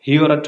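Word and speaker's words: Heorot: हाल का नाम था हिरोट। हिरोट भी आप सब प्रोनाउंस कर सकते हो और हिरोट भी कह सकते हो। Just remove this O and then से हिरोट।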